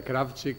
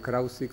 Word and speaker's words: Krawczyk: Se pronuncia Kravchik, pero si pueden pronunciarlo Krausik o lo que se les ocurra, y por sobre todo me llaman, y ahí estamos bien.